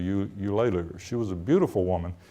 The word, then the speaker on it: Eulalia: People couldn't pronounce her name. I thought her name was Eulalia. That's the way people pronounced it in those days, but it was actually Eulalia.